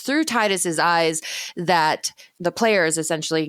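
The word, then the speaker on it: Tidus: protagonist of Final Fantasy 10 is not actually Titus and yes all you I'm actually people I know it's technically pronounced tetus and I don't care because that sounds stupid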